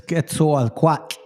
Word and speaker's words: Quetzalcoatl: Hey, I apologize for the pronunciation. I've learned how to say it now. It's not anywhere near that. Quetzalcoatl. It's Quetzalcoatl.